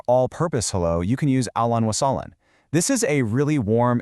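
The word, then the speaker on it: أهلاً وسهلاً: For a more all-purpose hello, you can use ahlan wa sahlan.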